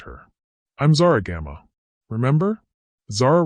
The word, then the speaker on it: Zara: Zara rhymes with star.